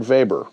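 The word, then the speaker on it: Weber: from Germany named Eberhard vber uh with a W pronounced with a V and I when I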